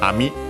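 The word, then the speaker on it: 網: Uh after that we have the word uh ami. Okay. Actually accent on the last syllable.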